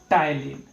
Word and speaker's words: ptyalin: टाइलिन, P silent रहता है, PTYALIN, टाइलिन। अब इस सैलिवरी अमाइलेज और टाइलिन का क्या है, क्या यूज है?